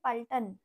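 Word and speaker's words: पलटन: প ল ট দন্তানু প ল ট দন্তানু তাহলে উচ্চারণ কি হবে পাল্টান পাল্টান মানে হলো সৈন্য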